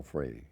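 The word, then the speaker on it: Frueh: And Al Foy, is that how you pronounce it, or Foy? Oh, he was first rate, Al Free, yeah.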